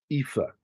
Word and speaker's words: Aoife: Aoife is how her name is pronounced.